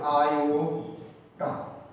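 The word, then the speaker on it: iota: আয়োটা এর উচ্চারণ হবে আয়োটা।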